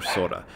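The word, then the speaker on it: 空: The word they're translating is pronounced ku or sora. When it's pronounced ku, it means emptiness or void, and when it's pronounced sora, it means sky.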